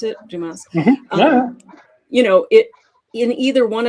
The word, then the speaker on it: Dumas: Is that how you pronounce it? Dumas.